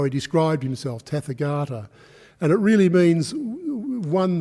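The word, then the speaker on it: tathāgata: means that when you when you sort of pronounce it as tether garter that means thus come but if you go um teth Agata no that's the way teth Agata means thus come but tefer garter means thus gone so it was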